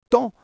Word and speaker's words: temps: Et pareil pour temps, on lit toutes ces lettres mais au final on dit juste temps.